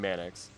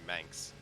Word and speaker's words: Manx: Jack keeps saying you're pronouncing the name wrong. That should be Manx.